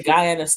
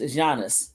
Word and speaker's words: Giannis: Yeah, that's Giannis, I believe. I always say Guyas, too. It's Giannis. The G is silent.